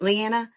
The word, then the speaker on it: Leanna: How do you pronounce it? Lyanna.